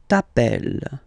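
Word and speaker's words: t'appelles: Okay, remember final S not pronounced tapel.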